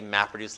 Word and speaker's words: MapReduce: does it in MapReduce I'll try to sort of say MapReduce like that is one word I got this in the first on the first syllable just to keep it